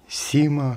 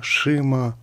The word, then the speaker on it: XIMA: Как ее правильно произносить? Sima, Shima, Chima или Zima, я не знаю. Уж точно не Xima. Напомню, что в английском языке в словах, которые начинаются на букву X, начало звучит как Z.